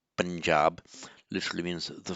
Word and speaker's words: Punjab: So the Panjab, which in Hindi and Urdu pronounced Punjab, literally means the 5 waters.